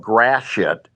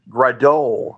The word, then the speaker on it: Gratiot: One is called Gratiot, which as kids we thought, oh, great, we can say Gratiot. But it's spelled, I think in French, it's Gradot or something like that because there's a lot of French stuff.